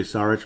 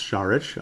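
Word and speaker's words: Šarić: as they call him I like to say sarich but I guess it's shich I guess so so out of respect I'll say it correctly if that is the correct way to put it very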